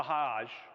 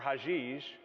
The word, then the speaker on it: Hajj: is the pilgrimage, or the Hajj, or Hajij. It's pronounced 2 different ways.